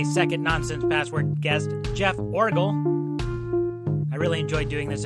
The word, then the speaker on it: Orgill: Oh, my name, Jeff Orgill, Orgill, Orgill. Orgill, yeah. Orgill. Okay, I didn't know if it was a hard G or not.